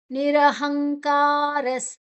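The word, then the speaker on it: ನಿರಹಂಕಾರಃ: ಆಕಾರ ಗೊತ್ತಿದೆ ನಿರ್ಮಮೋ ದೀರ್ಘಾಕ್ಷರ ನಿರಹಂಕಾರಸ್ ನಿರಹಂಕಾರಸ್ ನಿರಹ ಹ ಆದ ನಂತರ ಅನುಸ್ವಾರದ ಉಚ್ಚಾರಣೆ ಮುಂದಿನ ಅಕ್ಷರ ಕ ಇದೆ ನಿರಹಂಕಾರಸ್ಕಾರ ನಂತರ ವಿಸರ್ಗದ ಉಚ್ಚಾರಣೆ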